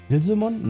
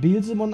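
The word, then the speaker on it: Beelzemon: auch in bilsemon nee bsemon definitiv weil es kommt von bsebub und es es wird bsemon ausgesprochen weil bsemon also bsebub ist es kommt von bsebub und das ist ein Dämon aus der Bibel bilsemon oder bilsebumon richtigbumon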